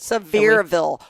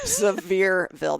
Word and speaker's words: Sevierville: Sevierville. Why can you not pronounce anything today? Sevierville. There's no S.